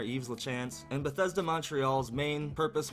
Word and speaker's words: Yves Lachance: I'm just gonna go with the French pronunciation of that name there, Yves Lachance.